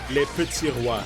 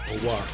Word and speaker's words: Les Petits Rois: I'm really bad at pronouncing. Les Petits Rois. So RWA. Rois.